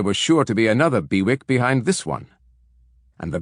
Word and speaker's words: BWIC: took over the portfolios and liquidated them bwic pronounced bewick came into common use an acronym for bid